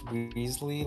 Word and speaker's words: Weasley: It's technically pronounced Weasley, like the character from... Ronald Weasley.